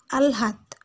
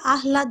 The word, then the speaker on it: আহ্লাদ: তোমরা উদাহরণটা খেয়াল করো, এটার উদাহরণ হচ্ছে আলহাত, আমরা আহ্লাদ বলি না, আলহাত।